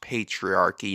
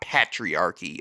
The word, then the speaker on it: patriarchy: First of all, let me get off the feminelle a bit and just tell you that it's pronounced patriarchy, not patriarchy. I don't know.